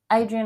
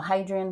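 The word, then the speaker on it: Hadrian: with a h but sometimes the H is silent in in the romance languages so anyway sorry Adrian or hadrien whatever you want to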